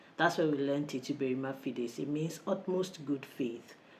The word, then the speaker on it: Uberrima fides: So it's spelled as Uberrima Fide or Uberrima Fides. But you would generally just call it Uberrima Fide. And some people call it Uberrima Fides, anglicizing it, so to speak.